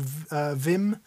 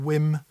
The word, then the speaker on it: Wim: For anyone who doesn't know, look up a guy called Vim. It might be pronounced Wim. I think it's V-I-M, isn't it? Or it might be W-I-M. I think it's W-I-M.